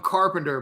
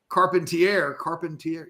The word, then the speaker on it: Carpentier: And I don't know what his NFL if Cody, don't you dare call him Carpenter, but Carpentier, yeah, Carpentier, right?